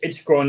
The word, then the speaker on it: Corne: It's Corne. So- It's not, well, for you Anglo-Saxons, it's probably corny.